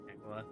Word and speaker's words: Aquila: Aquila. Alright. That's how you pronounce it, brain is Aquila.